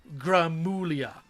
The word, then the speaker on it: Gramuglia: It's actually pronounced Gramulia. The second G is silent.